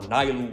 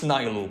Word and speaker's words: Nilu: Okay, so what I was playing instead of Nu or Nyu, whatever how you pronounce it. It's Nylu, by the way.